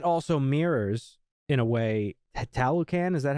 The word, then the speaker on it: Talokan: That also mirrors, in a way, Talokan. Is that how you pronounce it? Talokan? Yes, Talokan.